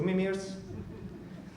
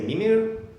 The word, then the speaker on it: Mimir: Mimir, then it's two Mimirs. Yeah, I want to use this slide because I often say Mimir, but the proper pronunciation is Mimir, just like the baby talk for sleeping in Spanish.